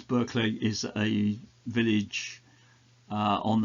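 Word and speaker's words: Burghclere: archery of All Souls I think it's pronounced berlay um I've heard it pronounced many different ways berlay is a village uh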